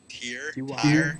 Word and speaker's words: Tyr: Tyr.